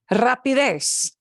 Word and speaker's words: rapidez: So we punch the last syllable, abril, and we do. I don't need an accent mark, abril. Rapidez, rapidez, fastness, velocity, yeah, rapidez.